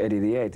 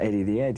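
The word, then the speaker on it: Eddie the 'Ead: we just caught it Eddy the ad now we don't pronounce the H back so it's not Eddy of the edge you know and that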